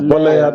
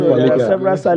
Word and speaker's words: Boleigha: Save for the pronunciation of the Boleigha. It's Boleigha, not Boleigha. The G is usually silent.